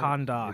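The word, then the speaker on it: Kahndaq: Is it Kondak? Is that how you say it? Kondak. It's Kondak? Okay. Yeah, that's the country.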